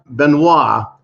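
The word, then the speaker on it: Benoît: says you know what his name was benoit that's how i would pronounce his name if i spoke really good french benoit says i can't deal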